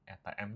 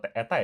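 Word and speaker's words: η: Persamaan simpangan kan si ini ya, si do n apa si n ini ya kan atau eta ya dibacanya apa deh kemarin eta ya kan eta sama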